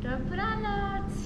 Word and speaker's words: dobranoc: Dobranoc.